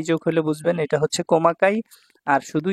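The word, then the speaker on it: 細かい: মানে চিকন আবার এই কাঞ্জিটাকে কোমাকায় বলা হয় কমাকাই হচ্ছে সূক্ষ মিহি খুচরা আবার ছোট বলা যায়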